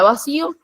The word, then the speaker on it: vacío: En la palabra vacío, lleva tilde, la sílaba sí se pronuncia con mayor fuerza, esto es nuestra sílaba tónica, y nuestras sílabas átonas es va y o.